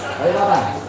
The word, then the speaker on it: Balikpapan: Balikpapan. Oh Balikpapan ya. Kan nyantolin deh. Oh Balikpapan bacanya.